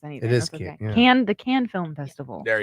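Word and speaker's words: Cannes: is can yeah yeah I don't I can't pronounce anything can the can film festival there you go thank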